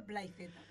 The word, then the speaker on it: Playz: Y Sí, un momento, se pronuncia Playzeta. Yo digo Place.